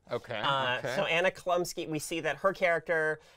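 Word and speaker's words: Anna Chlumsky: So I mispronounced the actor's name last week. Her name is actually Anna Klumsky. Okay. So Anna Klumsky, we see that her character and Gordon, like,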